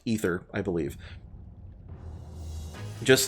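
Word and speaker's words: Aether: be spelled different it's it's an old Latin way of spelling it but it suffice it to say that it is pronounced ether I believe just like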